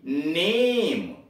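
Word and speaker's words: name: थोड़ा दीर्घ में, लज्जा, यन, ए, यम, ई, नेम, उच्चारण लंबा हो रहा है, नेम।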